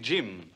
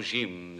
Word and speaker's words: Jim: Il faut prononcer Jim à l'anglaise avec un D devant. Non, Jim, ça ne lui ressemble pas.